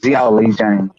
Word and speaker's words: Zhilei Zhang: Okay, that's how you pronounce it. Xiaoli Zhang.